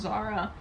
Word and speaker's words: Zara: Her name's gonna be Sara Sertuche, and it's gonna be spelled with a Z. In English, it's gonna be pronounced Zara.